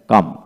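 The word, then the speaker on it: calm: সি এ এল এম কাম সি এ এল এম কাম এখানে এল এর পূর্বে কিন্তু এ আর রয়েছে তাই এখানে কাম হলো পি এল এম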